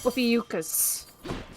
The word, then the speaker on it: Ophiuchus: Thank God I found something that actually shows up how to pronounce his name. So Upiuchkas.